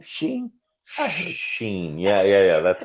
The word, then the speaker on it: Sheen: Charlie Sheen was his agent was given an offer to play Jasper. I heard of him. Charlie, what's his name? Sheen.